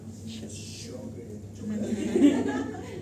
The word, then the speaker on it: Sjögren: Se pronuncia Sjögren. No sabía. Sí, yo también pronunciaba Sjögren, pero no, se pronuncia, viene de nomenclatura francesa y se pronuncia Sjögren.